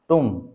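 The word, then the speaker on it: tomb: अगर ये कॉम है तो ये टॉम होना चाहिए, बट दिस इज प्रोनाउंस्ड टूम।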